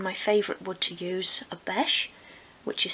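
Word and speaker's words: obeche: And for this I've used, again, my favourite wood to use, a beche, which is spelled O-B-E-C-H-E.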